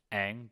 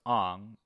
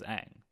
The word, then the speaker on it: Aang: no reason at all aang becomes ang and iro was pronounced ero none of this makes